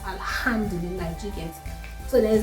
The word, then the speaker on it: Alhamdulillah: In Arabic, there are some words that have the H factor and you have to pronounce it, like Alhamdulillah. Alhamdulillah is not most people say Alhamdulillah, but it's Alhamdulillah.